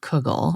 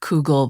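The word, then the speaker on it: Koogle: do you spell it it's like k o o g l e yeah I know it sounds like like noodle cougle or whatever but it was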